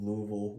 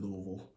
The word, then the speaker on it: Louisville: That's how they say it, Louisville. Or Louisville. Louisville is how everybody else says it. They say it Louisville or Lava. But yeah, there's a bunch of different ways to say it, that they say it in Louisville.